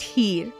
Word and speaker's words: Heer: the habit of saying my name is here you know here and yeah that here and immediately they would